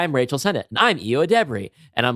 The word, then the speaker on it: Ayo Edebiri: I think it's pronounced. I know people generally get it wrong, and I think I actually heard her say Ayo Edebiri. Ayo Edebiri?